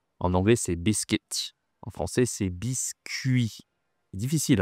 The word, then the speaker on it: biscuit: Je fais des biscuits. Attention ici la prononciation. En anglais c'est biscuit, en français c'est biscuit. Difficile hein ? Biscuit. Ici c'est une semivoyelle.